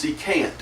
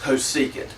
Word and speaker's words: cosecant: is cosecant um actually from what I can gather that is the proper way of pronouncing that I don't think it's coant uh I think it's just cosecant so we have S